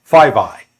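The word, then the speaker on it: FVEY: the classification report summary says fve y 5i That's the how the security bureaucrats pronounce that 5i stands for United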